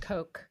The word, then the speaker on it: Koch: Yeah, the Cox brothers or Koch brothers. It's pronounced Koch. Koch.